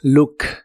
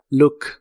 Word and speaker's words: look: El verbo mirar en inglés es look. La doble o de esta palabra se pronuncia como una u corta y explosiva. Look. Look.